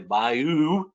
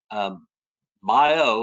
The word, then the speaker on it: bayou: heard the phrase that it is called a bayou and that is the Louisiana way of saying it but if you are an old houstonian uh it is pronounced U bio like Buffalo bio or biodiversity bio and so